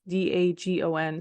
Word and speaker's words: Dagon: And I don't even know if you pronounce it that way. It's Dagon, so Dagon. It's no coincidence that Philistines looks a little like Palestinians, the modern day city of Gaza.